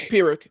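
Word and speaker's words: Pyrrhic: It's it's Pirick. It's a pirick victory.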